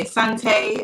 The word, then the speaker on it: Asante: We looked into the Asante as well. That's the correct pronunciation of Ashanti.